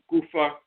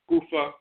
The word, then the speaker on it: goofer: So they would spell it like gopher, but they would add an extra O and say goofer.